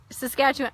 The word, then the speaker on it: Saskatchewan: Hi Flora, it's pronounced Regina, Saskatchewan, pronounced Saskatchewan.